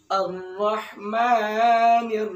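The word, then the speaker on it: الرحمن: Ar-Rahmanir Rahim. Ar-Rahman itu ada alif lam syamsiah karena lamnya dilebur atau tidak diucapkan.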